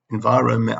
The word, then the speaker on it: environment: And there's an extra N there in the middle, which you don't pronounce. Environment, I can spell it, I just can't say it.